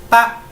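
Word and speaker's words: 八: mal porque recuerden que el ave no se dice ve se dice como si fuera una p entonces realmente dicen pa pero que es pa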